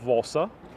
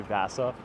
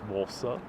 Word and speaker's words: Vasa: this guy over here is gustav valsa if you were to pronounce him with more of an american accent people would say vasa but walsa i love how swedish